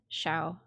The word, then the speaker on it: xiao: Oh, I said it wrong. Shao. I should have known that because like Shao wine.